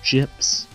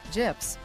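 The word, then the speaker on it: JP's: How do you pronounce that? J-P apostrophe... There's an I in there, Daichi. It's J-I-P-S. Gyps. Correct. Gyps.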